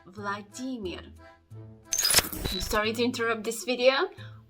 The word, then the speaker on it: Vladimir: now the Earth sound Russian language doesn't know this sound and therefore you need to pronounce it as Vladimir here at the end Vladimir sorry to interrupt this